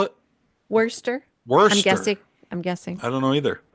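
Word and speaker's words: Worcester: it's w r c s t r it's Worster Worster it is see M some guy from Michigan can't pronounce these well I was gonna say because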